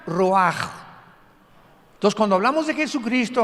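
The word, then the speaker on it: רוח: escribe ruach como suena con r de Raúl ch al final rach y se pronuncia raj Entonces cuando hablamos de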